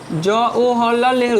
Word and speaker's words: জওহরলাল নেহেরু: দেখো আমি ভেঙে উচ্চারণ করলাম যাতে বানানটা ভুল যায়। এখানে আমরা জওহরলাল বলি, যার কারণে কিন্তু বানানটা ভুল যায়, সেই জন্য আমি কী করলাম? ভেঙে উচ্চারণ করলাম কি? জওহর, বর্গের জওহর, জওহরলাল নেহেরু।